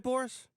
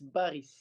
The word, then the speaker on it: Baris: Did I say that right, Boris? No, it's Baris.